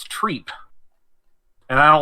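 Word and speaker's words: Trepe: be pronounced trip but according to the lore it's treat and I don't like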